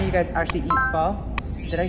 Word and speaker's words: pho: And today we are enjoying some amazing pho.